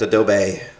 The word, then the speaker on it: Adobe: 12th someone's making fun of me for saying adobe and i'm going to continue to say it over because that's how you pronounce it uh starting february 12th they're going